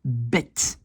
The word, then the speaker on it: bed: En néerlandais, un lit, c'est bed. Je prononce un T parce que mon D est à la fin.